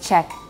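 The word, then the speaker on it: Czech: pronunciation wouldn't understand it otherwise the word is pronounced check check so check and georgian and scottish gaelic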